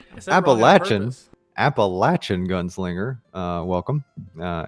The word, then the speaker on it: Appalachian: you say it was appalachian gun i have a latching gun singer i can't believe i just mispronounced that word um yeah you're welcome that's my word oh you said it wrong it made me say wrong appalachian appalachian gunslinger uh welcome uh and congratulations uh